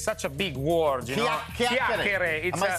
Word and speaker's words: chiacchiere: It's such a big word, Chiacchiere.